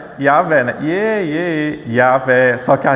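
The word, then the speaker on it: Yahweh: Então, Yahvé ou Jahé, se você for ler algum livro de teologia, normalmente vai se encontrar Jah, né? Mas é Yahvé.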